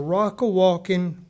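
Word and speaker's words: Rockawalkin: me let me say it right uh the Rocka walking one room school with a c 1872 which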